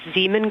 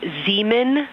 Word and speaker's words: Zeeman: Integrity Science, we believe that's Zeeman crater. Hello, I floated away from you. Speaker, say it again, please. We believe that that is Zeeman crater. Zeeman, okay.